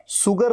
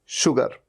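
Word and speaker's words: sugar: Next, मैंने आपको बताया एस के साथ में यू आया तो इसे कैसे प्रोनाउंस करेंगे, शुगर नहीं, शुगर।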